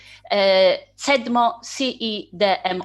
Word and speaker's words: CEDMO: our university, SWPS University, CEDMO grant, which is the part of so-called EDMO activity. If you don't mind, I will use Polish pronunciation of the abbreviation, so CEDMO and EDMO.